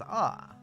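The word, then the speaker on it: ア: vowel a in english you pronounce this like as ah like in the word arc okay so that's a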